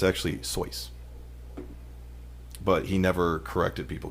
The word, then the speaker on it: Seuss: It's actually Seuss. But he never corrected people because he got sick of correcting them. So it's actually Seuss is how you're supposed to pronounce it.